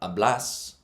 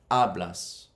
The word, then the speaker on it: hablas: So it's the rule is the second last syllable takes the emphasis. Hablas. Not hablas, but hablas.